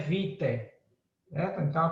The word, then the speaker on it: vitae: Se escreve vitae, mas se pronuncia vitae, certo?